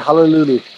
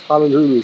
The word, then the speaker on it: Halalu: the kids enjoying their Halalulu. It's Halalu, but I told them it's Halalulu.